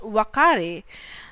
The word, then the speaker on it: Uakari: The Uakari is pronounced Wakari.